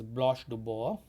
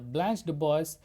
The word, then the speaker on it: Blanche DuBois: I'm using American pronunciation. The original pronunciation is Blanche Du Bois in French. So this Blanche Du Bois, she is a woman who is 30 years old.